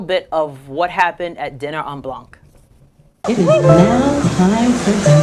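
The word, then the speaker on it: Dîner en Blanc: Dinner on Blanc. I pronounced that right.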